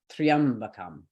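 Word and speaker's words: त्र्यम्बकम्: So we look at this word, Triambakam. The last syllable was kam. It's never the last syllable, so we move to the left. Could it be ba? No, it cannot be ba because it is a light syllable.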